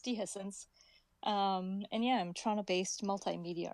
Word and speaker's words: Dehiscence: I thought I'd correct that first, but I kind of like the Dehi scene. I kind of like that pronunciation, so I could go with that. But it's Dehiscence.